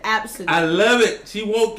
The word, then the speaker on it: Abcde: absent yes you pronounce it that's how you pronounce you speller ABCDE i learned now say absent i love it she won't get a job